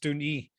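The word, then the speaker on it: Dùn Ì: And the best place to go and catch all these views is the highest point called Dún E. It looks like Dun 1, but it's pronounced Dún E.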